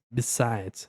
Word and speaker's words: besides: Depois, besides, besides, besides. Termina até com som de Z.